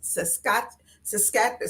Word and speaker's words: Saskatchewan: Saskatchewan. See, I said it right the first time.